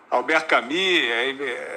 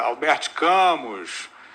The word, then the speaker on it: Albert Camus: vai outro cê tá Alberto kamia erra pronúncia Albert Camus é eles estão usando